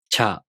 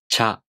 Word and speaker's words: ちゃ: For example, cha, chu, cho. These are pronounced with the ch sound plus a, u, o.